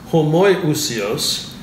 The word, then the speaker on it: homoiousios: and a similar essence, homoiousios, is an iota. There's an iota of difference, which I think is where that saying comes from. Homoiousios, as it's actually pronounced.